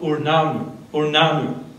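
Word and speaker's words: Ur-Nammu: It comes from Sumeria, the Code of Urnanu.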